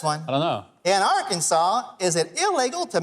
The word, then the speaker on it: Arkansas: The correct pronunciation is Arkansas, not Arkansas or Arkansas or Arkan anything. It's Arkansas.